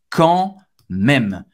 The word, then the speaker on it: quand même: A-N em francês, c'est o som do en, ok? En. O D é mudo. Même, même, ok? M e com acento circunflexo. M-E. Même acaba no M. Ou seja, a pronúncia quand même.